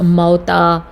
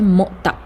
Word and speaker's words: مؤتہ: مؤتہ جو ہے یہ ہم اس کو لوگ موتا، موتا، پتہ نہیں کیا کیا بولتے ہیں، لیکن اس کا صحیح تلفظ ہے مؤتہ. میم کے اوپر جو ہے وہ پیش، اور اس کے بعد واو کے اوپر ساکن یا جزم جسے ہم کہتے ہیں، وہ اس طرح سے مؤتہ.